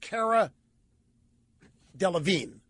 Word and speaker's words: Delevingne: And the question from Poppy, by the way, the name's pronounced Cara Delevingne.